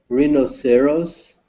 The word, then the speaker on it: rhinoceros: Hyde's one is rhinoceros. Rhinoceros. Rhinoceros. Rhinoceros. Yes. Second syllable stress.